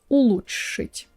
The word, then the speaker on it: улучшить: Past tense: Future: You see, the prononciation of this one can be tricky because it has these Ч/Ш sounds together and that's why it's confusing. But it's not complicated, you just do Ч/Ш sound, so you slightly move